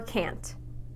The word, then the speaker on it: can't: no long a sound they can't buy it there that's right I said can't you heard that long a sound we can't work that